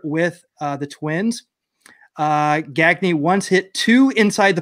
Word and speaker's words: Gagne: the same name, but they they pronounce it differently. So, it's Greg Gagny and Greg Ga.